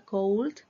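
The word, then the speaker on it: could: help me please aquí esa palabra no se pronuncia Cold la la o no se pronuncia la l no se pronunciará help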